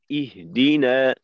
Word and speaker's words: اهدنا: ইহ, ইহদিনা সিরা, ইহদিনা, ইহদিনা, এই ইহ এরপর যেন উচ্চারণটা হি এইভাবে ফিরে না আসে।